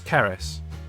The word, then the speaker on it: Karis: explaining how to to tell people how to say her name because nobody gets it right because it's a very unique name unless you live in wales yeah from now i'm going to tell people it's keris like ferris ferris bueller but